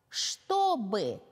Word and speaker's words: чтобы: 2 гласные два слога чтобы обратите внимание произносим чтобы пишем чтобы скучный вкусный ну что